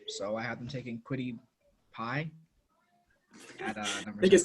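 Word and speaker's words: Kwity Paye: I told Jack I had Quiddy Pay, and he said, "Dude, his name is Quiddy Pie. Make sure you say it right."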